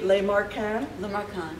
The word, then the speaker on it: Lemarquand: Lemarquand.